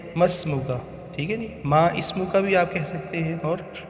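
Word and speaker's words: ما اسمك: ہے وہ ہے مسمکا۔ مسمکا جو لکھنے میں ہوتا ہے ما اسمو کا، اور اس کو پڑھتے ہیں مسمو کا، ٹھیک ہے جی۔ ما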